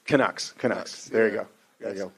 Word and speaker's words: Canucks: Yeah, how you pronounce it? The Canucks. Canucks.